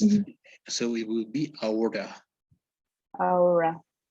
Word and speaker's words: aorta: Aortic. No. Auric. Yes, it's like we're not pronouncing the T, right? Uh, As if the T didn't exist. Aortic.